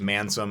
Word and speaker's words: Mansome: getting really old because his name obviously is mansome and it rhymes with handsome and when people say